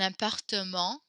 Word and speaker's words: appartement: Un appartement. We pronounce that little E there. Don't forget to repeat after me. Un appartement. There's like a little extra syllable there that's not in English.